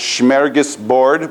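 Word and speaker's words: smörgåsbord: Swedish word my Swedish friend tells me it's pronounced schargus Bard which means Sandwich Board and it's basically Buffet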